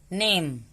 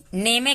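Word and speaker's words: name: Type, नेम, नेमे क्यों नहीं पढ़ रहे? नेम, क्योंकि ई साइलेंट है।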